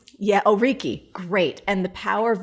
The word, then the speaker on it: Oriki: Did I pronounce that right? Oriki. Yeah, Oriki.